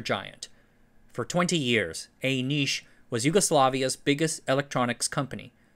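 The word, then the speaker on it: Niš: semiconductor giant: Elektronska Industrija Nis (Електронска индустрија Ниш) or EI Nis. ## Beginnings The Nis in "EI Nis" - rhymes with "leash" - refers to a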